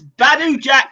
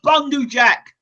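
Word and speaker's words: Badou Jack: It's Badu Jack, not Bundu Jack.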